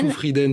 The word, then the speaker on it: Zufrieden: vous chantez aussi votre nom de famille comment il se prononce exactement alors CESU freeden zufrieden pour les plus dis-je